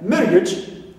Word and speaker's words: marriage: Age, like, or edge, okay, like marriage. So, edge here also is neutral. We stress ma, first syllable.